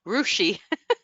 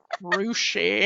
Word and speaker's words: Russia: Renee And says there's a town then called Russia, but it's pronounced Rushi. Rushi.